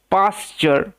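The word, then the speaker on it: pasture: আই এর মত হয় এবং টি ইউ আর ই একটা ওয়ার্ড প্যাটার্ন যার উচ্চারণ হয় চার ওকে পাশ্চার মানে কি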